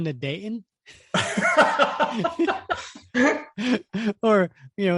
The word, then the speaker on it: Dayton: see this with females there is the silent T in the middle of a word okay so it's not Dayton Ohio it's Dayton okay yeah right all right